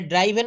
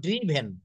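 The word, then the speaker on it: driven: চালান চালানো চালিয়েছে চালিয়েছে এটা ড্রাইভেন বলব না এটা বলব ড্রিভেন ড্রিভেন সে একটা গাড়ি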